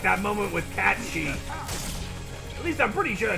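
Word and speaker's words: Cait Sith: for the longest time you kept calling it kate because that's how it's spelled i never heard anybody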